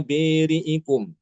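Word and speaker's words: بارئكم: Adapun lafaz bariikum itu hanya ada di surah Albaqarah ayat ke-54 ya. Fatubu ila biriikum seperti itu bacanya.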